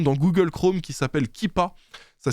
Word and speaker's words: Keepa: ajoutez une extension dans Google Chrome qui s'appelle kippa ça s'écrit keepa et bah dès que vous l'avez